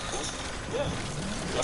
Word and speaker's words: Boosie: Am I saying his name right, Boosie?